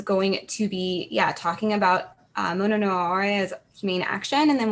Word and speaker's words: mono no aware: Actually, for our own, my own edification included, could you tell us how to pronounce the phrase in your paper? Mono no Aware.